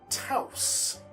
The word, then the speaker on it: touse: It actually comes from a word game that I play on my phone and it is touse or torse. I believe it's pronounced touse, which is to rumple or to ruffle or to tangle What did I put down here?